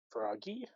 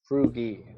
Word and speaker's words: Frugy: Is that Froggy? It's a No. froggy. It's Frugy. It's the French pronunciation.